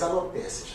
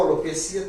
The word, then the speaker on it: alopecia: Então, alopécia ou alopecia, tanto faz a pronúncia, um ou outro está correto.